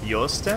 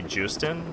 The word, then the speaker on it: Joosten: capture and voice actors for quite is Stephanie Yost my it's spelled if you read it like phonetically in from English standards it looks like a Stephanie Joosten like J oh oh but I watch the